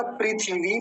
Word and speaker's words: पृथिवी: केवल इतना पृथ्वी लेकिन संस्कृत में जो लिखा जाता है वो लिखा जाता है पृथिवी पृथिवी ऐसा यानी थ पर थ का पर ह्रस्व का और वकार पर दीर्घ इकार हिंदी वाले में तो थका